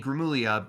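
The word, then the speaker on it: Gramuglia: saw by um Anthony Grimmullia, a YouTuber we're big fans of where You finally got his name right. You didn't pronounce the G.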